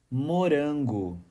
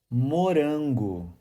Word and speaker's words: Morango: pronounce the Brazilian Portuguese word morang the correct pronunciation is morang on again morang here's a fun fact in Brazil there's a